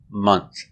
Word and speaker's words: month: And month is pronounced month.